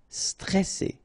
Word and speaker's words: stressé: Okay, remember you get double S here, so you pronounce it really strong while it's between two vowels. So C, alright, and then here you get this E before the double S, so it will open the pronunciation of the E. Stressé, stressé. Stressant, okay, final T not